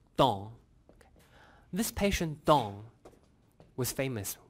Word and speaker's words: Tan: In French, this is pronounced as Don.